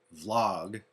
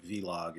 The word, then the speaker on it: vlog: hi everybody here's vlog 2. i was told that uh the proper way to say v-log is vlog which of course i